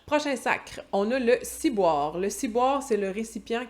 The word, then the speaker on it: ciboire: Bien entendu, on ne prononce pas ciboire. Le wa, le son wa en québécois a tendance à devenir ouais. Comme noir, il fait noir, il fait noir. Fait qu'on dit ciboire.